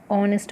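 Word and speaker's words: honest: तो यह वर्ड है इसको हो नेक्स्ट नहीं बोलेंगे हम इसको बोलेंगे और नष्ट भी खोज मैच है यह जो है यह हो गया साइलेंट इसलिए मैं इसको ऑनेस्ट बोलेंगे ठीक है और अगर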